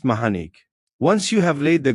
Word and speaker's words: Manik: The next solar glyph is called black manik pronounced mahanik.